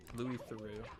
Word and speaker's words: Louis Theroux: documentaries from Louis Theroux you guys always say I pronounced his name wrong but that's how the dude himself pronounces his name I've seen like every documentary that guy's done you both say it wrong take it up with him the episode that I